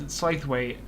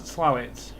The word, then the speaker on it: Slaithwaite: First time you see it, you'll pronounce it as Slaithwaite, the station between Marsden and Huddersfield. But some of the locals pronounce it as Slowit.